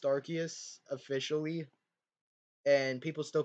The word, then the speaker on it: Arceus: with that argument but uh but it's literally pronounced arceus officially and people still pronounce it arse even though it's [ __